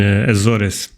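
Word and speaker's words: Açores: one in Portugal in aoris the the correct pronunciation is aor but I know you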